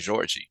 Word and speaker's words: Jorge: The pronunciation will depend on which country you're from, because Americans would just say George, and Brazil it sounds like Georgie, right?